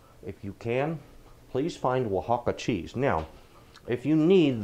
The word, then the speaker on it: Oaxaca: for this dish if you can please find will hakka cheese now if you need the way you spell that and get ready to get a pin because here it is Oh an X ACA Oaxaca is spelled Oh a X ACA will hop